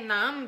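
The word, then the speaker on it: naan: Je me suis pris des pains nan. Des pains nan, ça s'écrit N-A-A-N.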